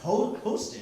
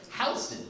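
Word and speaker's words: Houston Street: It's not no isn't short for north of Ho Host. It's north of Hston.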